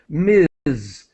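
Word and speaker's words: Ms.: This is Miz. This is a neutral form of Mrs. and Miss.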